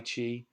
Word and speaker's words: qi: and things like Tai Chi kind of fall under that category of qigong. That Qi is pronounced chi, or it's spelled a couple different ways.